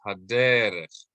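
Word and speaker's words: הַדֶּרֶךְ: so that's telling us instead of haderech, it's haderech. Haderech. This cantillation mark is telling us emphasize this syllable.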